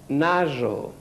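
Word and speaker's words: nazo: Naso, aquesta lletra és, la Z aquesta és com ara diem nosaltres roser, rosa, z, de fer z, la pronuncia d'un mosquit o d'un...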